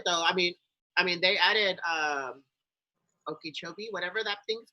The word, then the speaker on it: Okeechobee: I mean they added Okeechobee, whatever that thing's called. If I said it right or wrong. Okeechobee, yeah.